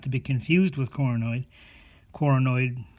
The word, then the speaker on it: coronoid: be confused with coronoid coronoid rhymes with paranoid and it's in your